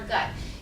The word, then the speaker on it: GIT: He theorized that aging was caused by toxic bacteria in our gut. You're going to see me use GIT, gastrointestinal tract. I'll pronounce that gut because GIT just sounds too weird to me.